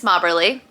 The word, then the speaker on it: Mobberly: my name Mobberly if any of you all are saying my last name wrong it's Mobberly and then I'll go